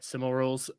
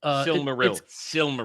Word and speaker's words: Silmaril: Cimarils. Silmaril.